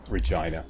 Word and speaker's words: Regina: I think way back in the beginning of the walkthrough when I was pronouncing it Regina, which is correct. Everyone's going, "No, when it's a girl's name, you don't you pronounce it Regina."